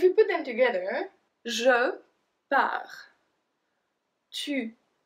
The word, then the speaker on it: pars: We don't pronounce the S at the end, we don't pronounce the T at the end.